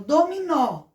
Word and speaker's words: dominó: Dominó, nós temos o acento, a sílaba forte no nó. Então, nós estamos pronunciando a letra O com o som de O, porque esta vogal está bem na sílaba mais forte.